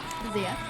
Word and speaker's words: Xia: Zia. And you can find me on Instagram and Twitter at Zia_land. It's spelled XIA_land.